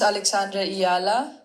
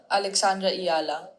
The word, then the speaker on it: Alexandra Eala: Alessandra Yella. I think that's pretty close. Pretty You good. ready? You ready? My name is Alexandra Eala. Alexandra Eala.